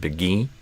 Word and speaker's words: begin: I think you said begin instead of begin. So E versus I in begin. So I do a I.